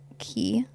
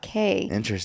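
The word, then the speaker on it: Cay: is very interesting because it's key not KES and they made it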